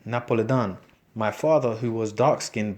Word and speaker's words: Napoli: Napolitano and from Naples she pronounced it Napoli Don my father who was